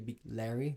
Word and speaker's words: Bigleri: last name wrong because it's actually Big Larry with an A.